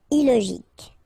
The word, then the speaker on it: illogique: Remember, K, ic. Illogique.